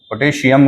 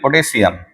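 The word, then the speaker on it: potassium: अच्छा pronunciation it इज़ अ पोटेशियम। पोटेशियम गलत बोलते हैं इट इज़ पोटेशियम।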